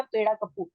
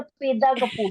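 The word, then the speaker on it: పెద కాపు: Picture का नाम पेड़ा कप्पू है या पेदा कप्पू है? पेदा कापू है।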